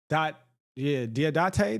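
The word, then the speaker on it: Dadiet: Diodate.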